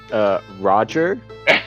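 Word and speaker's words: Rahdrer: Mr. Bjork, how do I pronounce that? It's Roger.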